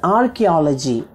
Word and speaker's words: archaeology: The first one is archaeology. Spell it A-R-C-H-A-E-O-L-O-G-Y.